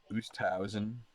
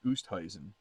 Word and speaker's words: Oosthuizen: Oosthausen. I keep saying his name like 5 different ways. It's Oosthuizen. I think it's Oosthuizen is how you say it.